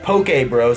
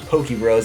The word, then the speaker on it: Poke Bros: I was just at, pronounced Poke Bros. I thought it was Poke Bros, like Pokemon, which would be really cool in my opinion, but Poke is, I think, what I just had, is that's what that's called, right?